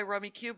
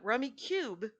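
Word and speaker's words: Rummikub: target yesterday it's for sale you could buy rummy cube right now it's spelled k-u-m by the way rummy cub but rummy cube is how it's pronounced and it's rummy but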